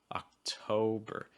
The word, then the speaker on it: October: O, O, October, October. Make sure again you're holding that O sound long enough. Don't rush to get to the B.